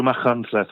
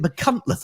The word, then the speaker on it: Machynlleth: Everyone goes through Machynlleth at some point, don't they?